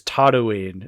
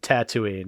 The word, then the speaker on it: Tatooine: Luke Skywalker says Tatawine instead of Tatooine.